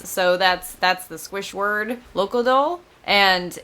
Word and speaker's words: Locodol: And I said that kind of mushed together because I think that's how they say it instead of like my Americanism, which would be Locodol, like, which is how I want to say it every time.